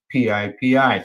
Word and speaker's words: PIPI: compounds derived from psychedelics which they coined PIPI so Pippy drugs uh well they pronounce it pipi uh the psychedelic drug